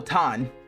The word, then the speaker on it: ton: Oh, ton rhymes with dawn.